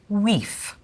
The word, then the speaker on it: wife: The word for wife would be pronounced weef.